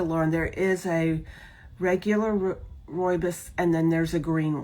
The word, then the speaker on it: rooibos: And I was told to say like rooibos. It's not the way I wanted to say it.